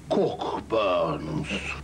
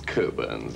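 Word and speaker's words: Cockburn's: enjoyed glass of Port cork Burns not quite it's coburns actually we don't pronounce the CK cool Birds so that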